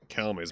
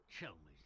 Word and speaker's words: Chelmey: Calmy's back, huh? This is the first time we're actually meeting the real one, then. Huh? Hey, it's you! Well, Inspector Chelmey's the name.